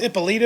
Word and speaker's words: Ippolito: See, is it pronounced Ippolito or Ippolito? It is. No, that's Ippolito.